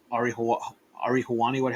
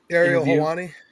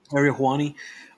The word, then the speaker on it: Ariel Helwani: Showing the video of CM Punk doing what he said during the Ari Hawani, how you say his name? Ariel Helwani. Ariel Helwani.